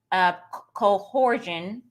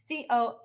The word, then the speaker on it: coercion: and skew your messaging into a type of coercion. Did I say that right? What are you trying to say? Cohersion.